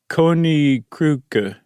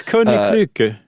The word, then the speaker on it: Koninklijke: It's Koninklijke.